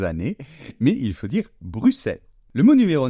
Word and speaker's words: Bruxelles: Mais dans ce cas-là, on ne prononce pas la lettre X comme d'habitude, mais on la prononce tout simplement se. Donc on va dire Bruxelles. Donc voilà, il ne faut pas dire, mes chers compatriotes, Bruxelles, hein, c'est une erreur que je faisais aussi